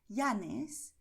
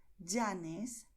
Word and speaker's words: Llanes: Y la opción 2 será pronunciar j, como si dices en inglés jeans. Es decir, pronunciarás Llanes, Villa, Yucatán, Cayo.